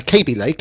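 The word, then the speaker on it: Kaby Lake: So um KB uh KB Lake it's pronounced is um is the new the new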